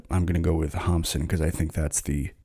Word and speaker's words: Hamsun: pronounced hamson but I'm going to go with hamson because I think that's the pronunciation that Norwegians would use hamson was born